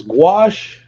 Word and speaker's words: gouache: say it uh Eve it's gouache gouache wash squash my sister went to